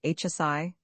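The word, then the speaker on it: 希: The Chinese characters which I have translated, the eckable, the inaudible, and the subtle, are now pronounced Yi, Hsi, and Y, and in 1823, Ray Musat fancied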